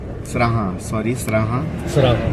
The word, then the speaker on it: सराहा: और अभी सराहन से आगे सराहा द एग्जैक्ट प्रोनाउंसिएशन इज सराहा।